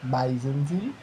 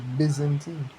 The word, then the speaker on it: Byzantine: dark soal dark but bisentine with how pronounce it is Byzantine Well, so like Bzantine and my pronunciation, right?